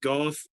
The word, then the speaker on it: Golf: be pronounced it's pronounced golf just like cough except with a g golf okay that's my thought